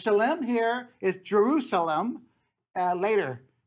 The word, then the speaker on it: Salem: and then you have Salem OR Shalom is the correct way of pronouncing it as shalim here is Jerusalem uh